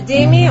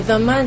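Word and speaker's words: dhimmi: A Demi or a Dhamma, depending on the pronunciation, is a tolerated people.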